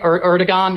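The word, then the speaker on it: Erdoğan: the Turkish president right erigon I always say his name wrong it's not a hard G yeah and uh and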